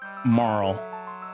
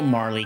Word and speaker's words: Marle: Yeah, it's pronounced as Marl as you saw. I know. I know. But I was always a Marley kid.